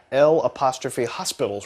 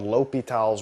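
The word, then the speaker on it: L'Hôpital: the actual pronunciation is a French guy and so you pronounce things a little differently and it's called l'hopital's rule ok so it's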